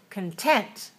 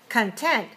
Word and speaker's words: content: satisfied you feel content and then content stressed on the second syllable so the cook is not strongly released but what is released the top of the second syllable so what content content I feel very content are you content are you satisfied are you content are you content so content content and content have a different stress pattern and also the